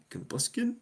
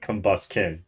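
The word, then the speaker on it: Combusken: This one, Combustion? That's not right. How do you actually pronounce it? Let's go. Let's look. Let's look at how it's actually spelled, Combuskin? Devon. Combuskin. That's how you do it.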